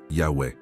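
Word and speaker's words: Yahweh: Le véritable nom de Dieu, tel que le révèlent les sources les plus anciennes et les plus fiables, se prononce Yahwe.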